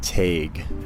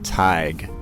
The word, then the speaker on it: Teague: to be a poet the Irish pronunciation of my name is Tag that's my understanding and my Irish grandom and her sister called me tag and then an Irish priest told us the correct pronunciation of the name is TIG and and neither of